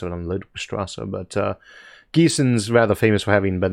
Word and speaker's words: Gießen: Pedro Hafferman Least asks, greetings from Gießen. He's got it pronounced there for me.